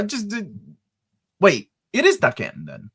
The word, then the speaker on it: Daken: Some people say Dakin. It's pronounced Dakin.